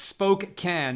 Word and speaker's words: Spokane: Ginger says, Spokane. That's the way to pronounce it.